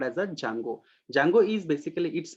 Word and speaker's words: Django: How do you pronounce Django. it? Django, right? It is called as a Django.